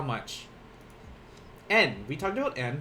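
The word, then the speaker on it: 円: En, we talked about en. This is how they pronounce yen in Japanese when referring to money.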